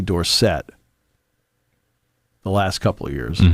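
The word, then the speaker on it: Dorsett: first couple of years it was Tony dorson it mhm right and he said no it's Tony Dorset the last couple of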